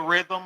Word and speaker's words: Rithmm: So big thank you to Rhythm. If y'all hadn't tried them yet, go download the app. It's spelled RITHMM.